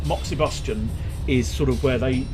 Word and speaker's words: moxibustion: bus I don't know I pronounce it Moxie Bastian moxie bust Junie Bostjan it's probably Boston as in combustion Moxie Bastion I don't know if you'd pronounce the ex quite so distinctly there but moxibustion is sort of